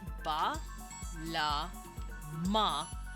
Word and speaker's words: Balam: Balam is written with the letters ba, la, ma, and then they just opt to ignore that A in their syllable because there's an A here. And they go, okay, it's echo spelling. They know to not pronounce that A. Pronounce it. So they just say Balam.